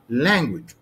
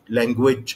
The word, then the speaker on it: language: فانا هنطقها ازاي؟ هنطق language. اوكي؟ لكن لو نطق language ايه اللي حصل؟ ان انا حطيت الاستريس على المقطع الثاني، فحصل ميس برونانسيشن، في خطا في الايه؟ في النطق، او زي ما البعض بيسميه broken English، الانجليزي المكسر. انك انت حطيت الاستريس على المقطع الثاني، والصح انها تكون على المقطع الاول.